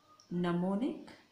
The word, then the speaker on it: gnomonic: और इसका हेडिंग आपने देना है जेनिथल, ये सब आपने स्टेंसिल से लिखना है, नमोनिक जी इसमें साइलेंट होता है, पोलर केस या पोलर जेनिथल नमोनिक प्रोजेक्शन।